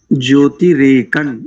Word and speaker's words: ज्योतिरेकं: एक स्थान पर बस ज्योतिरेकन, यहाँ पर भी नकारी उच्चारण करेंगे अनुस्वार को, ज्योतिरेकन।